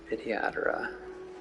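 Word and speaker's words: Vidyadhara: why viatra okay that's how you say it viatra oh I can't interact with her anymore sad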